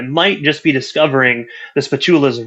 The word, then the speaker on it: Spachoolas: YouTube and it's going to be at the spatulas we spell it SP p a c h o o